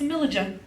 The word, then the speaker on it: Amilija: I always tell them the wrong way to say my name, because it's spelled with a J. So I always go, they're like, oh, Amelia, and I'm like, no, fuck you. It's Amilija.